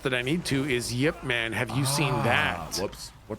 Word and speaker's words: Ip Man: Yip Man. Yeah, that's how you pronounce that. Yeah. It's not IP man or IP man.